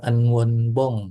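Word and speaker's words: 응원봉: Enwon bong bacanya dan artinya adalah light stick ya.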